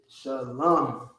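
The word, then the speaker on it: שלום: Instead of la ma, it becomes lam. Lam. Okay? La ma, and then you just drop the ah sound at the end, leaving you with shalom.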